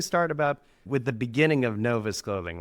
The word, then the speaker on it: Novus: with the word Novus, N-O-V-U-S, on these tank tops and crew necks. And we had looked up the Latin root for fresh, and we read N-O-V-U-S as novice. It should be pronounced novus, but we read it wrong from the beginning.